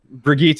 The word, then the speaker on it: Brigitte: Brigitte is generally the German way to pronounce Bridget.